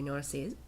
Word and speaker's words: Narcisse: how it's spelled so said in the English Way nurses nurses pants high-waisted they